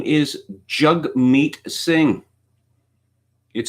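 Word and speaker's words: Jagmeet: a politician in my country his name is jug meat sing it spelled jag beat but it is pronounced jug meat why it's not spelled jug mate I just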